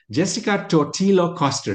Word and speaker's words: Jessica Totillo Coster: Jessica Totillo Coster. Did I pronounce it okay, Jessica?